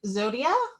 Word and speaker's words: Zodia: gonna pop corn too i'm gonna pronounce it zodia yep that's my name uh i'm zodia uh